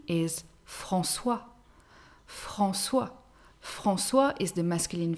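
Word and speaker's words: François: have faustin faustin faustin a mixed name is francois francois francois is the masculine version of francoise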